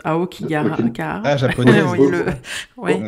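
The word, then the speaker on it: 青木ヶ原: forêt, mais je ne sais pas comment on prononce. Okay. Aokigahara.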